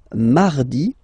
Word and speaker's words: mardi: Then mardi, mardi. So you can hear that you don't pronounce it that strongly, this R. Mardi, mardi, okay? You don't need to go too deep like mardi. No, no, no.